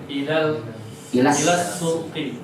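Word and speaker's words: السوق: Ilas sauqi. Bukan. Kalau sauqi itu kerinduan. Ilas sauqi. Ya. Pergi ke kerinduanku sauqi.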